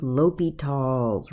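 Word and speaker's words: L'Hôpital: okay we begin with ly tall's rule so this is how you say it ly talls rule so ly tall's rule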